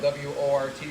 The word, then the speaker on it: wort: Spelled W-O-R-T, pronounced wort.